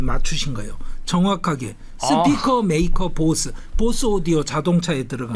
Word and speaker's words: Bose: 한국에서는 이 인도 사람 보스를 단행본 책이나 논문에서도 보세라고 자꾸 써요. 그거는 잘못된 겁니다. 그러니까 수바스 찬드라 보스입니다. 그리고 우리는 보스의 오디오라고 안 하잖아요.